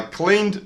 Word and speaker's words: cleaned: Cleaned ends with a d sound.